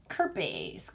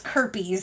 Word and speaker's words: Kirpes: It's almost spelled like herpes, but it's Kirpes, so that's why I went with it.